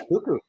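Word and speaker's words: Koekkoek: That's how you pronounce his name? Actually? Yeah, Cuckoo.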